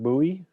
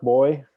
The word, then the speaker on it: buoy: fathom five is launching a smart buoy a smart boy depending how you pronounce that with all kinds of